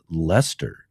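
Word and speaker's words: Leicester: Good day from Lancaster or or pronounced Lester.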